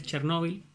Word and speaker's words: Chernóbil: primer lugar recuerden que la pronunciación correcta en español en realidad chernóbil así está traducido e incluso lleva tilde pero ha trascendido de